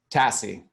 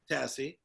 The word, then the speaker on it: TASSI: How do I pronounce that? Tassie. Tassie.